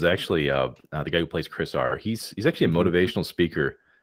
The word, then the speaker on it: Chris-R: Wait, so it's like Chriser? It's Chris -R. But why? What's the dash there for? That implies that R is separation. Okay. You got to pronounce it. You can't change it. It's not an abbreviation. Because if it'd be like Chris.R, it's like it's dash. It's part of his name. So Chris-R.